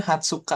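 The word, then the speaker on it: 二十日: Sangatsu niju niju hatsuka itu ada hiragananya di atas ada furigananya furigana bukan niju niju niju hatsuka tapi bacanya hatsuka aja oh hatsuka iya tanggal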